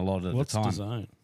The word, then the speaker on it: DAZN: design? It's just the promotion, like UFC. You know, promotion of MMA. DZN or whatever it is. Oh, I thought that was DAZN. Yeah. Yeah, DAZN. Design.